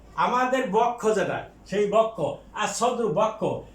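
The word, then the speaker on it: الصدر: আর সদ্রু মানে বক্ষ, আমাদের বক্ষ যেটা সেই বক্ষ, আর সদ্রু বক্ষ, এ সিন এটা হরফে শামসিয়া, কাজেই লামের উচ্চারণ হবে না।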